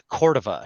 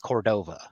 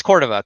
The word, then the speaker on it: Cordova: I guess but it's Cordova because my my grandparents they their first language is Spanish and that's the way they pronounce it so yeah who cares